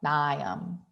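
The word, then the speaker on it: Mnium: Some of the mosses you'll see in lab are Polytrichum, that's how you say that, and Nium, kind of like Bill Nye, Nium.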